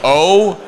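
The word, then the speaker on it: Orhorhoro: And just for those trying to pronounce it at home, it is phonetically O-Ro-Ro-Ro, R-O-H.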